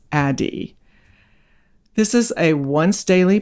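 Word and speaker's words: Addyi: t y i you'd think it would be pronounced ad ye but it's pronounced adi this is a once daily pill that you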